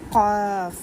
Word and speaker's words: قاف: فا کے بعد ہے مین جو ہے یہ والا لیٹر قاف. اب بہت سے لوگ کیف کیف کہہ دیتے ہیں، ایسا نہیں ہے.